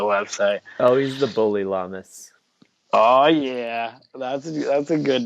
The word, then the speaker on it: Lamas: Lamas? Yeah, Lamas.